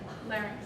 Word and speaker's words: larynx: bone structure that's called the, say it right, Larynx.